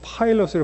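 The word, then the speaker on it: Pilate: 필레이? 오케이. 근데 이 발음이 그 다음 단어를 보시면은 요거 아시죠? 우리 소위 말하는 파이로트라는 거, 파일럿, 그 조종사. 요 단어가 사람 이름이에요. 빌라도라는 뜻으로 발음은 파일럿으로 발음이 됩니다.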